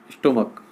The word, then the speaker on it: stomach: तो सी एच का एक प्रोनाउंसिएशन तो चा होता है और एक होता है का, क्या होता है, का। जब प्रोनाउंसिएशन का हो, जैसे फॉर एग्जांपल मैंने लिखा यहाँ पर STOMACH, स्टोमक, क्या यहाँ पे जो सी एच है इसको क्या पढ़ा जाता है, का पढ़ा जाता है, इसको क्या पढ़ते हैं हम, स्टोमक।